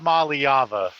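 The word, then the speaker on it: Iamaleava: It's Aliyava. I still like I'mma gonna leave you.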